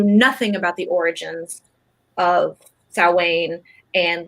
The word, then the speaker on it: Samhain: I was like, first, it's pronounced Samhain.